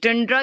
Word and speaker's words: tundra: यस, टंड्रा कहते हैं, कुछ लोग टुंड्रा कहते हैं, कुछ टंड्रा कहते हैं, ठीक है। तो कह सकते हैं इसकी प्रोनाउंसिएशन कैन बी बोथ।